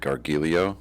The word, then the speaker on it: Gargiulo: How do you pronounce it? Gargiulo.